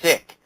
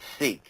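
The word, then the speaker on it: Sikh: hard to explain and it's actually pronounced sick SI i h k I think did I spell it right I don't know um but it's called siik it's not seik um and it's always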